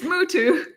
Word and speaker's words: Mutu: It does rhyme with tutu. It's Mutu.